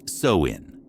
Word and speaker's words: Samhain: This night was called Samhain in the Celtic lands, pronounced Samhain, because the Irish alphabet has always enjoyed confusing outsiders.